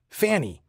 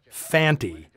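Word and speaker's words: Fante: I saw this movie, I'd assumed Lee Van Cleef's character was named Fanny, since that's how both Earl Holliman and Brian Donlevy always pronounce it. It's only when Conte speaks the guy's name does he clearly say Fanty.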